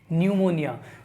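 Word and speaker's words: pneumonia: देखिए सबसे पहले नंबर पे लिखा हुआ है क्या दोस्तों, न्यूमोनिया, जिसके अंदर पी साइलेंट है।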